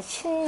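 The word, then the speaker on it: 辰: 지닐 하라고 하는 것은 정확하게 표현하면 신 이라고 읽어야 되는 영어 조가 그 신과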